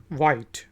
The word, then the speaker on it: white: Next word है WHITE, वाइट। हम आमतौर पे यूज़ करते हैं वाइट, सफ़ेद रंग को कहते हैं, सफ़ेद को वाइट, लेकिन H जो है हम प्रोनाउंस नहीं करते, साइलेंट है।